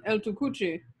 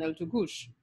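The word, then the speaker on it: El Tucuche: even like El Tukush, that CH would be pronounced like CH in Spanish. So Chaguaramas, Chaguanas, and El Tukuche would have been the Spanish pronunciations, but the French and Patois speakers gave us Chag, Chaguan, and El Tukush.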